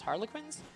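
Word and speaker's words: Harlequins: buildings to talk to I believe it's pronounced Harley quins um and if we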